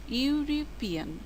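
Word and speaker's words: European: ইউরোপিয়ান শব্দটি vowel দিয়ে শুরু হলেও উচ্চারণ হচ্ছে কনসোন্যান্টের মতো, ইউরোপিয়ান। কাজেই হবে এ ইউরোপিয়ান।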